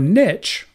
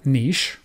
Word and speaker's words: niche: what's the difference so a niche or niche some people pronounce it you already know